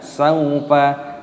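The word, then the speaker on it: سَوْفَ: Nah, kalla panjangkan, saufa, wawu sukun dibaca saufa, ta'lamun, ainnya dibaca sukun, dibaca mati, lamun, memnya dibaca panjang, ada wawu sukunnya dimatikan, nunnya dibaca mati, mat ada sukun.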